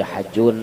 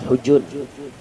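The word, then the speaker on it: الحجون: Ada yang membaca Hajun, ada yang membaca Hujun. Orang Arab biasanya membacanya Hujun, kampung Hujun.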